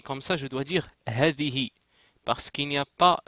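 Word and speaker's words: هذه: si je l'écris comme ça je dois dire Hadi parce qu'il n'y a pas de Alif le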